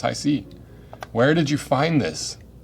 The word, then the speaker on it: HiSea: We went on to learn We went on to learn that Hisea is pronounced Hisea.